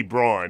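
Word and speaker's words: Braun: you take Chris Brown spelled b-r-a-u-n which Jeff Van Gundy can't seem to figure out uh should be Brawn he's right about that he pronounced his name the family says it's brown yeah they're wrong about that oh really yeah you've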